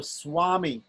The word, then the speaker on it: swami: So swami, yeah? So it's pronounced like a wa usually when it comes in a conjunct.